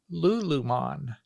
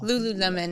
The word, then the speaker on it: Lululemon: with the international company lulan that sounds very lyrical Lululemon is how they say it okay it does sound